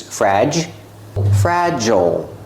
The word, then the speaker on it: fragile: the adjective fragile pronunciation use a short a like black cat fra JJ use a j sound like jump and Juice frag fragile we see that I E we're pronouncing the i l like o o Not Fragile we don't use the short I sound like this is we use the o o like pencil we don't say pencil